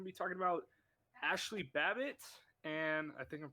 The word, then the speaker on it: Babbitt: First off, we're going to be talking about Ashley Babbitt, and I think I'm pronouncing it right. Am I? Yeah, it's Ashley Babbitt.